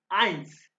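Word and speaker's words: eins: भी थे again please अब आप देखो ये इ आई इकट्ठा आ गया तो ये इंग्लिश में आए यानी आइंस आइंस mean one आइंस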